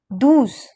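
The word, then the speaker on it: douze: for you here we have 12 which is doos now comes 13 which is called as tres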